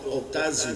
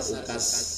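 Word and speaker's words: عكاظ: Karena kono okazu pasar okas, namanya pasar okas tulisannya tapi bacanya okaz. Itu seakan-akan itu boleh dikatakan satu-satunya dha yang dibaca za, okaz.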